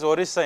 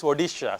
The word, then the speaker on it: Odisha: Odisha we call it as Orisa in Karnataka because we don't pronounce D. I mean we are taught Odish Oisha. I don't know why I know it's Odisha.